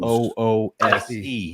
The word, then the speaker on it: Luce: Talking about that Luce Cannon This is spelled fair Luce, use, fair use, fair use. Loose.